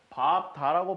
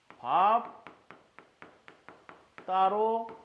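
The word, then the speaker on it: 밟다: 자음으로 시작한 걸 만났으니까 비읍으로 발음합니다. 그래서 밥, 다가 됩니다. 그런데 우리가 이걸 밥, 다라고 발음을 하진 않지. 어떻게 발음을 할까요? 자, 기역, 디귿, 비읍이 뒤에 가다 부수자를 만났어. 뭐가 일어나야 돼? 그렇지. 경음화가 일어나야 돼. 그래서 최종적으로 얘는 발음 어떻게 하더라? 밥, 따로 발음해줍니다.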